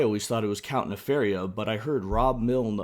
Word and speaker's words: Nefaria: man animated show and it's apparently Nefariah in some cartoon. I don't know. I prefer Nefar. Yeah, I never never pronounced it that way in my head. Yeah, it looks like Nefaria and I like that better, but I guess Nephariah, I don't know.